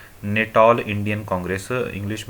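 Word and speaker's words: Natal: तो 1894 में गांधी जी ने नेटाल इंडियन कांग्रेस, इंग्लिश में देख सकते हैं, हिंदी में यहाँ नेताल हो गया है, तो इंग्लिश में जो लिखा है वो इसका सही प्रोनाउंसिएशन है, नेटाल इंडियन कांग्रेस की स्थापना की।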